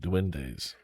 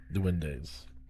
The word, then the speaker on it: duendes: It's spelled D-U-E-N-D-E. D-U-E-N-D-E. Duendes. D-U-E-N-D-E. D-E. Duendes.